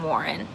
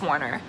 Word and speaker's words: Warner: me because number one his name's not even warren it's warner and then you know